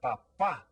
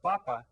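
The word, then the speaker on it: papá: is el el now make sure that you put the accent on this word when you spell it Papa okay because otherwise you'll be calling him your potato a papa is a potato papa is a dad well how about this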